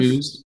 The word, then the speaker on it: Hormuz: Hormuz.